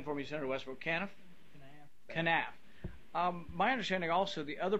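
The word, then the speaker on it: kenaf: They mentioned the product, pronounce it again for me, Senator Westbrook, Canaf? Canaf.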